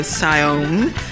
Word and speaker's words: Siayome: Because, you know, I don't mind, but he did slap my wrist for pronouncing his name incorrectly. So Siayome and Jammers.